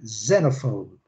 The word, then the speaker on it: xenophobe: Então é xenophobe. Xenophobe. Primeira sílaba, forte. Xenophobe. Ok? Xenophobe. Xenophobe. In English, the first syllable. In Portuguese, second syllable, okay?